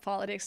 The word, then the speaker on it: politics: to strangers honestly cu the word is not pronounced politics it's pronounced Politics the T in this word cannot be pronounced with a fast D not politics but politics why because there's a stress after the tea it's a secondary stress politics if there's a